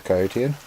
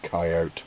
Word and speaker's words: coyote: here keep calling the Kotian before anyone says anything yeah I know technically it's pronounced coyote but screw you guys